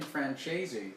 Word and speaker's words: Francese: Can I pronounce the E? Is the hard E at the end? Free Am I wrong to do that?